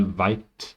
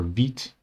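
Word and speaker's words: Vite: right click new file white or wheat sorry it's spelled wheat dot config.js paste the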